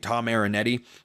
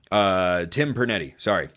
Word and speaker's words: Tim Pernetti: job by, I think Tom Marinetti is how you pronounce the name of the American Conference Commissioner, and I think he did obviously a great job. Tim Pernetti, Tim Pernetti, formerly Mike Oresco, but